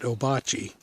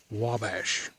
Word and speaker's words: Ouabache: park guy here that they've called it obachi for about 15 years until they found out that it really should have been called Wabash or pronounced that way so really cool I